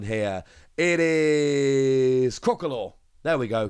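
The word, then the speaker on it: Crocalor: How do we pronounce a stage 1 here? It is Crocolor. There we go, Crocolor.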